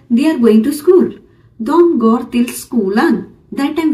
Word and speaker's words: de: सो डी या ई, D-E, जब हम बात करते हैं we pronounce it like a dom, dom, that means they in English, वो, वे in Hindi.